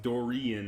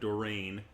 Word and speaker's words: Dorian: or Dorian Dorian apparently it's pronounced Dorian not Doreen which is what I